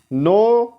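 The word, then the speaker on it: know: करना नो न्यू नोन इसमें के साइलेंट होता है जब के और एन एक साथ आते हैं when they come together so तो उस टाइम के साइलेंट हो जाता है यानी इसकी आवाज नहीं आती सो नो न्यू नोन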